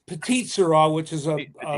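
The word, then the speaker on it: Petite Sirah: Is that how you pronounce it? I'm Irish, so I'm gonna It's Petite Shira, which is a Shira.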